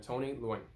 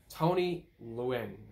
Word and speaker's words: Tony Leung: This one came out on Friday and was directed by Destin Daniel Cretton and stars Simu Liu, Awkwafina, and Tony Leung.